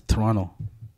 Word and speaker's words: Toronto: Toronto it's to it's written Toronto but we pronounced it as Toronto Toronto Toronto Toronto yeah that's what I said